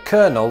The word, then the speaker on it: colonel: lesser extent the British pronounce the military rank of Colonel with an r in it colonel and I know